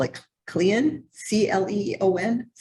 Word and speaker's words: Cleon: 1915 um I guess they call it clian c-l-e-o-n is how you say it stay Leon it's